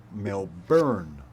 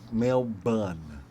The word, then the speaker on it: Melbourne: my pronunciation he says we remove letters from words here so it's pronounced Melbourne or male bun depending on where you